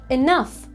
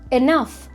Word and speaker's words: enough: For pronunciation, it sounds like enough, enough. G is silent in this word.